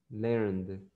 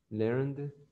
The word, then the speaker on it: learned: If I say learn, the last letter is N. So in the past, the ED will be pronounced only the letter D. So you will say learned, learned, learned.